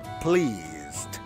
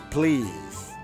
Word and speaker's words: please: los sonidos ya pleas please to meet you se dan cuenta acá est pleased y este Meet ya por qué Por qué no se pronuncia pleas en inglés la primera e que suena I lo come a todito